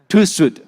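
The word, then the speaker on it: TÜV: How to pronounce that? TwoShoot. Okay, TwoShoot, all right?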